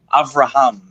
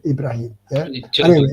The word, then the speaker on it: Abraham: Ibrahim or whatever and how do you pronounce it Abraham or Ibrahim well it's a avraham Abraham yes okay and because in other languages we call say Ibrahim Ibrahim yeah oh yes you